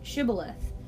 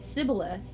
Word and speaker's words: Shibboleth: they said all right say Shibboleth if he said Sybil ahthe because he could not pronounce the word correctly they seized him and